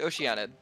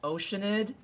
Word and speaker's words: Oceanid: right or we could do Oceanic let's do Oceanic no I know is that one actually it's pronounced oceanid okay well we're doing the electro hypostasis then